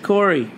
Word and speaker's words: Cory: let's talk about Cory here are some words that rhyme with Cory story glory allegory Montessori and he obviously watched